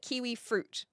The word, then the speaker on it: kiwi fruit: They call it kiwi fruit. It's got 3 syllables.